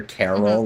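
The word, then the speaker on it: Karel: or like for example the boss's name is spelled Carol k a r e l but I just hear Carol like an old woman like an old woman named Carol like from The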